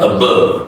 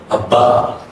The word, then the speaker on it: above: Above, okay? Not above, no, above.